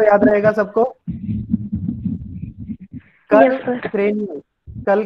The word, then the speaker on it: cranial: क्रेनियल बोल के देखना है सबको, चाहे म्यूट करके आप बोल रहे हो बोल लो, क्योंकि बाद में प्रोनाउंसिएशन आप लोग गलत करेंगे। क्रेनियल, CRANIAL, क्रेनियल।